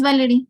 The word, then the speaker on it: Valerie: ¿Cómo lo pronuncias? Sí, doctor, es Valerie, así.